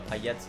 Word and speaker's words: Payet: Oh, Payet. Oder Payet, wird er ja ausgesprochen.